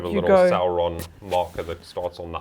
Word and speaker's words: Sauron: Sauron. Yeah, you see, he gets pronunciation.